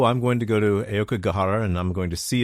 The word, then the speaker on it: Aokigahara: Aokigahara? Oh, Aokigahara, Sea of Trees.